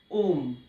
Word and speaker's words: ओम: ओ यानी अ प्लस उ, अ उ और म को मिला के बनता है ओम।